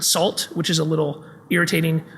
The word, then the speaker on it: NaCl: There is a library that's spelled NaCl by Dan Bernstein. He pronounces it SALT, which is a little irritating.